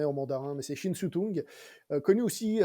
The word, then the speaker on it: Shin Tung: Alors, je pense que c'est une Ah, question de prononciation si c'est en cantonais ou en mandarin, mais c'est Shin Tung, connu aussi à l'étranger comme Tony Shin, qui